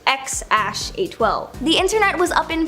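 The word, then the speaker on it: X Æ A-12: name is X something or apparently it's pronounced x812 the internet was Up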